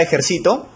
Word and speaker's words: ejercito: Tenemos la palabra ejercito, ¿no? Que es una palabra grave porque su sílaba tónica es la penúltima, ¿no? Yo me ejercito. ¿Por qué no lleva tilde? Porque termina en vocal, acuérdate. Las graves no se tildan cuando terminan en ns o vocal.